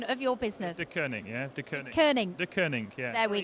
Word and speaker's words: Deceuninck: Pronunciation of your business. Deceuninck, yeah.